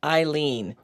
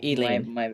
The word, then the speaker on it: Eene: And I want to tell you you pronounce my name Eene. So it's Eene, not Elen.